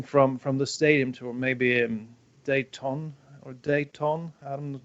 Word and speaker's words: Dayton: And then you would have to have something from the stadium tour, maybe Dayton. I'm not sure how you pronounce it. Daytona?